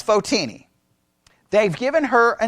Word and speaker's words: Photini: Now there's debates depending on who you listen to and how to actually say her name. I say Photini. Sometimes I will say Fotini, but Photini seems to be the best way. Some say Photini. I say Photini. That's what I'm going with because I'm in Texas and we're right.